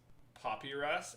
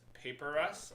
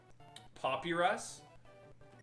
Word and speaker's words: Papyrus: I legit heard a grown man pronounce Papyrus as Paperus last week.